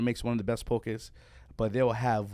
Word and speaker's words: poke: It's like pronounced pokey up here in the States, but that's incorrect. It's pronounced poke, right?